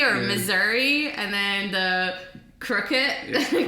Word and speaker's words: Missouri: There like was misery or yeah. Missouri, and then the crooked.